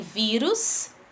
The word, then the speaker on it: vírus: A gente tem vírus, né? A palavrinha tônica tá no vi, que é a penúltima, e ela termina com us, como ele está nos mostrando aqui.